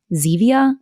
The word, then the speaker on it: Zevia: husband actually has um zevia that's how you say it like the stevia soda because he's tried to